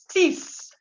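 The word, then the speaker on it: six: 6, en français, vous dites 6. 6. Y la X se pronuncia como una S.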